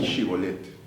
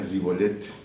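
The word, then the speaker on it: שיבולת: Entonces, para detectar si el que venía era galaadita o efraimita, le decían, a ver, di shibolet. Y el otro no podía pronunciar la sh, decía zibolet, enemigo, y lo mataba.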